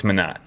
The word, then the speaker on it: Minott: And people, how do you say it? Minott? Minott? It's Minott. Don't disrespect my mans.